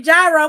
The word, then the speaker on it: gyro: some money she said I get so corrected about my Euro pronunciation girl cuz we from we from the Midwest we we call it a gyro because that's what everybody call it my armpit itches um